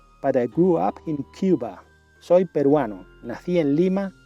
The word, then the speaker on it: Cuba: En inglés pronunciamos Cuba.